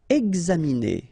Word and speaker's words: examiner: Examiner. Okay, it's interesting here because you've got this X and then you pronounce it X.